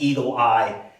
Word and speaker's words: Eagle AI: Well, you saw Cleita Mitchell, who is uh Trump's personal attorney and has formed this group, Eagle AI, which she pronounces Eagle Eye, as a winking nod